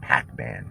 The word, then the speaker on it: Pakman: so i don't know i guess you pronounce it similar david p a k though not p-a-c p-a-k-man david pac-man okay um this guy